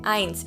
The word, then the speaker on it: eins: try okay eins okay you might be wondering now why is it eins it's an e and an i after each other well in german whenever you see a word with e and an i after each other it's i i for example das ice the ice cream let's continue number two